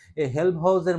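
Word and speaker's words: Helmholtz: এই প্রথম সম্পর্ক প্রশ্ন যদি এমন আসে যে হেল্মহোল্টজের মুক্ত শক্তি থেকে, হেল্মহোল্টজ অথবা কি, অনেকে তো উচ্চারণ ঠিক মতো হয় না, হেল্মহোলটজ, হ্যাঁ, হেল্মহোলটজের মুক্ত শক্তি ফাংশন থেকে, হ্যাঁ, এফ থেকে, মুক্ত শক্তি ফাংশন কি?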